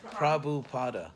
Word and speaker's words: Prabhupada: Could you pronounce his name? Oh, Prabhupada, my teacher. Yeah, right. Here, Prabhupada.